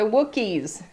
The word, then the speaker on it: Wookiee: The Wookiees. The Wookiees. Looky, looky rhymes with Wookie.